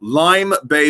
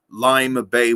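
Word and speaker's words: Lyme Bay: i left uh england a couple years ago lime bay winery that's l-y-m-e lime bay winery fantastic a section of meads and we've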